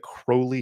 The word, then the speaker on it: Crowley: uh i think that crowley himself liked to pronounce it as crowley in fact i think he wrote poems where he uh he uh he rhymed crowley with holy because you know obviously